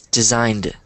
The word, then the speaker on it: designed: but for your sake, for pronunciation purposes, think of it as being spelled without the E. So then you know that, okay, I don't pronounce the E, so I just say designed.